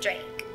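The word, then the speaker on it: Draac: Nikki dra yeah we pronounce it Drake but it's spelled d r a a c like yeah like I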